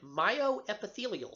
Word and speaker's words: myoepithelial: a pocket within the alveoli you will find myoepithelial cells my oep i th e li al